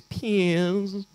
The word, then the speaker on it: Piers: front that is correct um his name is Piers Morgan just just listen to that name Piers Morgan Piers morgue Piers Morgan what's your name it's pears it's pian's what's your name that's how you pronounce his name you may know who he